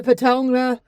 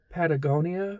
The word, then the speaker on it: Patagonia: I'm not the Lululemonhaired wavy rolling it with wand or wearing the Patonga. How do you say that thing? Patonga. Pata. Patagonia. Patagonia thing.